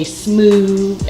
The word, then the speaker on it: Smoove: Smoove, like groove.